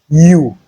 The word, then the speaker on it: ewe: EWE is pronounced U, just like YOU.